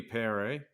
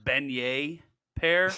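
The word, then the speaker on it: Benoît Paire: -150 he's playing uh Benoit pair or pop it sounds French so it could be Perry but I like it the other thing it's pronounced beignet pear dude it's like Beignets are delicious yeah it's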